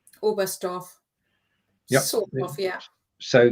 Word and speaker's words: Oberstdorf: The T is silent, isn't it? Oberstdorf. Yep. Sort of, yeah. So the T doesn't really need to be there, but it is. Oberstdorf.